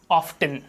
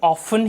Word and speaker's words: often: सो ऑफ्टन word is also correct, लेकिन इसको हमें ऑफन ही बोलना है, इसको ऑफ्टन नहीं बोलना है। बिकॉज ब्रिटिश इंग्लिश का जो ये ऑफन का जो प्रोनाउंसिएशन है ब्रिटिश इंग्लिश में वो ज़्यादा सही माना जाता है। सो हम इसको ऑफ्टन के बजाय ऑफन बोलेंगे। This is ऑफन।